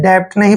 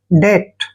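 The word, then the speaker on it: debt: डी ई बी टी इसको डेप्ट नहीं पढ़ना है डेप्ट बिल्कुल नहीं पढ़ेंगे डीई का उच्चारण हम डे करेंगे और टी से पहले जब भी बी आता है तो बी साइलेंट हो जाता है ठीक है तो बी का उच्चारण हमने य नहीं करना है और टी को ट पढ़ेंगे डेट डेट होता है एक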